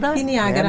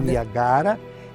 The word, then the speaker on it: Niagara: tipo de uva a Niagara que alguns pronunciam niagra mas a Niagara e tinha a Niagara